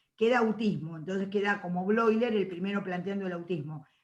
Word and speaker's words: Bleuler: Bloiler, como Freud se escribe Freud, y se pronuncia Freud, los nombres alemanes que van, o los sustantivos o palabras que van EU, se pronuncian hoy.